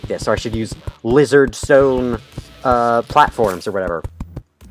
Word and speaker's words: Lihzahrd: found out off camera apparently the weird spelling of lizard is just pronounced as lizard so yeah it's just an alternate spelling of blizzard cool that's good to know so i don't have to try and embarrass myself by saying liz hard anymore this looks like